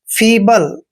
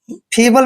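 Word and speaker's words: feeble: बी एल ई दोस्तों एफ का उच्चारण फ करते हैं डबल ई को ई की मात्रा पढ़ते हैं और बी का उच्चारण हमने ब करना है एल ई को ल पढ़ते हैं फबल फबल मींस होता है कमजोर यू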